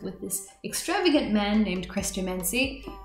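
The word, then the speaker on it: Chrestomanci: They go off to live with this extravagant man named Christo Mansi. I always mentally pronounced his name as Christo Mancini, and that's like stuck with me my whole life, just saying it wrong.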